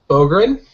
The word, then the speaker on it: Bográn: Bográn. Did I pronounce that right?